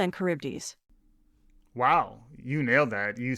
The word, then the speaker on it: Charybdis: That's very difficult to pronounce. The Scylla and Charybdis.